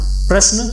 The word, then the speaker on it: प्रश्न: इसमें भी क्या है, र प्राय आधा है और ये आधा प के नीचे लग जाता है। इसका उच्चारण हम प्रश्न इस प्रकार करते हैं।